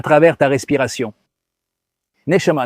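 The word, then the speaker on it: נשמה: Et âme se dit neshama, comme tu vas l'entendre. Elle se prononce presque pareil. Neshama, neshima. Il n'y a qu'une lettre de différence et la racine est la même.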